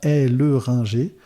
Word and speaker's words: Helleringer: dans le on recorde est-ce que j'ai bien prononcé ton nom de famille ah sujet compliqué mon nom de famille donc oui mon nom de famille c'est bien et le Ringer c'est un nom qui